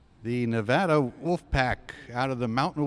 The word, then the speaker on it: Nevada: I mean for me I say Nevada too but when I first got there people said you're saying it wrong it's supposed to be Nevada but I still say Nevada so it was cool